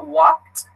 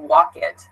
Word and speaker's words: walked: verb so for example I just said walked you can hear it's not walk it be careful with this